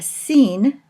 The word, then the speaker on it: sin: one of those is now a scene and is today pronounced like our letter S or oisin it's a